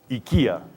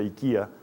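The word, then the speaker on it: οἰκία: Una es ikia, se escribe oikia, pero se pronuncia ikia, y la otra es oikos, y se pronuncia ikos.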